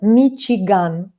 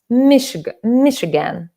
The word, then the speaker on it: Michigan: I say it the Russian way because Russians say штат Michigan. Yeah, I have Russian accent. That's why I would put patterns of my own language on the English pronunciation. But you would say Michigan, I think.